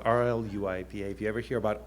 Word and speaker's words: RLUIPA: and Institutionalized Persons Act, which is pronounced RLUIPA, spelled R-L-U-I-P-A.